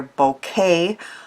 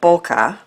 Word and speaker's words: bokeh: a haze or blur many sources show the term pronounced either bouquet or bokeh so because we can choose I'm saying Boca because it's easier in the past I've